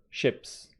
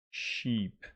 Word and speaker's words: ships: There aren't any elephants or ships. So don't make the mistake. It is ships. It's not sheep.